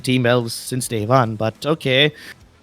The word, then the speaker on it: TeamELVES: And TeamELVES, who we've been mispronouncing as Elvis, finally in 15th position.